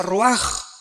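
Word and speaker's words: רוּחַ: Aquí se usa otra palabra hebrea, que se escribe ruach, con R de Raúl, A-C-H, se pronuncia ruach. Por ejemplo, cuando hablamos del Espíritu Santo, el Espíritu Santo es ruach, el kadosh.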